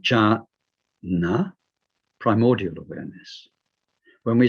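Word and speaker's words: jñāna: words as in jhana this is sort of a ja sound ganasan ja sound which means knowing knowing in the sense of knowing directly aware of something so when we say ja na primordial awareness when we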